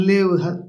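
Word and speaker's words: Lugh: Lu is how we pronounce them here, but I'm sure he would have been pronounced. I've seen it as L-U fada. Yeah. And even, like, no offense to people that aren't Irish, but L-U fada is easier to pronounce and just disregard the fada than the G-H. Yeah, exactly. Yeah. In a lot of Irish words, a lot of Celtic, a lot of Gaelic words, G-H is silent.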